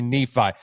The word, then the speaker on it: Nephi: I specifically asked because I just want to hear you pronounce it, but it's actually Nephi.